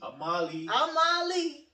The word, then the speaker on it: Amali: And you still saying it wrong. What's it's Amali.